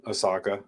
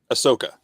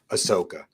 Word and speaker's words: Ahsoka: like the um young Osaka I I always say it wrong say it for me Jesse Ahsoka Ahsoka my family yells at